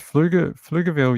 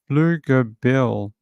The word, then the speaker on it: Pflugerville: It says Pflugerville, yes, silent P. Pflugerville, Texas.